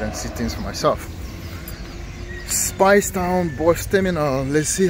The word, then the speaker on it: Speightstown: nice so that's it spice down spelt like eight but it's pronounced as spice down boston cashier here